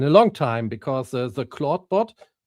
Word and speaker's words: Clawdbot: long time because the claudebot I think it's pronounced like claude but written differently.